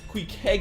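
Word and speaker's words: Queequeg: Qug is how you pronounce it.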